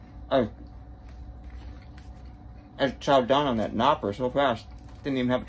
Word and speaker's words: Knoppers: and they're like, no, in German you pronounce the K. It's not knoppers, it's knoppers. Well, apparently I don't have